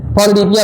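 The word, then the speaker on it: polydipsia: actually ना ये डिप्सिया जो शब्द है इसमें यस साइलेंट है, पॉलीडिप्सिया बोलते हैं एक्चुअली, लेकिन अब इंडिया में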